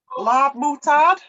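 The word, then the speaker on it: ลาบหมูทอด: Larb moutard.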